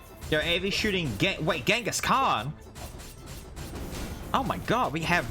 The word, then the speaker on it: Genghis Khan: for shooting genghis khan although as i understand it shouldn't be pronounced that way isn't it true that's what they pronounce like chingus or chingus han something along those lines i've been told before by people who know better than me that that pronunciation is is more accurate to how it would have been said at least nice um